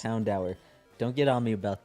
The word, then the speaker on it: Houndour: Houndour is literally pronounced Houndour.